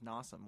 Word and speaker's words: Nasim: my last name is Nasim which rhymes with awesome so there you go